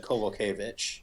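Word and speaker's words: Kowalkiewicz: Um, is it Kovalevich or Kulkovich? I always thought it was Kvulkovich, but they kept but uh I trust I trust the man himself uh John Anick who said Kovalevich.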